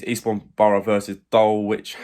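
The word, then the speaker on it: Dulwich: it's Eastbourne Borough versus Dole witch Hamlet I think is how you say it on Saturday uh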